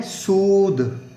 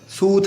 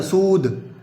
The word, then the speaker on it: soothe: ठीक है, इसकी प्रोनाउंसिएशन है सूद, सूथ नहीं बोलना, सूद।